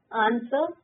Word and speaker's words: answer: Answer W silent.